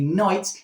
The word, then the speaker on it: knight: are you called a knight even though it starts with a K?